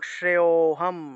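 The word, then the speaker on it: শ্রেয়োঽহম্: গত পিবা তোতে কি টান দিব যেহেতু লুপ্ত ও আছে, এবং শ্রেয়োহম শ্রেয়োহম এইভাবে উচ্চারণটা আসবে।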